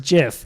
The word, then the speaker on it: GIF: for what the jiff isn't one very first jiff was it was that was a picture with